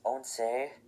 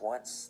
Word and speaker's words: once: Then 11 is once, remember it's not pronounced once, like some of you probably think.